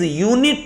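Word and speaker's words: unit: नहीं है इट इस यूनिट ऑफ मेजरमेंट अब यू वॉवेल तो है लेकिन इसका उच्चारण यहां यूनिट हो रहा है और यूनिट की शुरुआत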